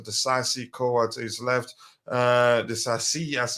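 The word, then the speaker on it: Disasi: Well, back three, Thiago Silva central to his right, Axel Desasi, Koa to his left, Desasi as it's pronounced.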